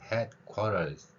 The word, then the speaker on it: headquarters: 다음에 quarter라고 발음을 하겠지만 headquarters 이렇게 t가 r하고 겹칠 때라든가 아니면 모음 사이의 t는 우리말 리을로 소리가 납니다.